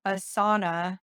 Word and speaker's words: Asana: before and someone's like I don't understand how Asana like sauna like a hot room is helping you so